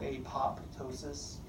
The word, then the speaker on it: apoptosis: a mitosis a spell apoptosis the second P is silent it's a programmed cell